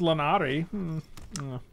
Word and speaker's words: Lannery: It's pronounced Lannery.